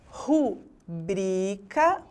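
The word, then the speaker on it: rubrica: lugar na palavra 'análise' agora rubricá recorde o dico gratuito origens de difícil elétron e tórax caqui e órfão todas as palavras agora apresentam a sílaba forte na penúltima posição quando isso acontece dizemos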